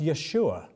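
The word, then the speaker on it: ישועה: It's pronounced Yeshua.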